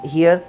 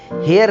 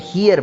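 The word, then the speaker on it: here: ये हेयर नहीं आपने पढ़ना, इसको हियर पढ़ना है जी, ठीक है। प्रोनाउंसिएशन आपकी जो है ना वो करेक्ट कर रहा हूँ। तो हेयर जो होता है वो खरगोश वाला होता है और या बाल वाला होता है, ये हियर है, हियर, ठीक है जी।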